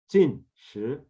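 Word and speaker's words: 禁食: Jin Shi, Jin Shi, Jin with a falling tone, Jin, and then Shi with a rising tone.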